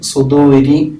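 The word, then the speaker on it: صدورِ: തന്നെയാണ് അതിൻറെ ഭംഗി അപ്പൊ സുദൂരി ശ്രദ്ധിച്ചില്ലേ അവിടെ റാഇയിൽ കസർ ആയതുകൊണ്ട് സുദൂരി എന്ന രി എന്ന് ഉച്ചരിക്കണം മിനൽ ജിന്നത്തി അവിടെ ജിന്ന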